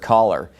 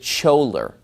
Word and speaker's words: choler: or fifth grade English I learned the word caller felt CH o le are he pronounces it scholer well obviously if people